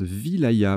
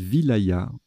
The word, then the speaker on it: wilaya: ailes à sa sauce ça se prononce wilaya ma voyez je le découvre petite découverte donc on dit wilaya ok division administrative de